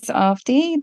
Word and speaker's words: Avadhi: do a quick recap my name is ofi the second a in the spelling is silent so it's pronounced as Ai and I'm the author